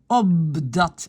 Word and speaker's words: opdat: Opdat, le P devient B.